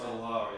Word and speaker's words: Guadalajara: Dave Areola in Guadalajara? Is that how you pronounce it? Guadalajara, yeah.